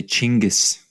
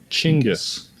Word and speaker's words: Chinggis: So if you want to be proper Mongolian, you would say Chinggis. Chinggis.